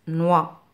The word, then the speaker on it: noix: N avec le son wa se prononce noix.